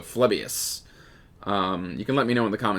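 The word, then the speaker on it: Phlebas: I think that's pronounced with an F, so Phlebius.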